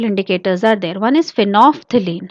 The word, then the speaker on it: phenolphthalein: One is phenolphthalein. How to pronounce it?